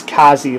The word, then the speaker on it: Kaze: and we're gonna swap it out for the scythe kazi master pro and some of you wondering about the pronunciation yes it's kazi like kamikaze and just an update